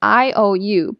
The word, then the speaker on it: iu: It's pronounced as iou, but it's written as iu.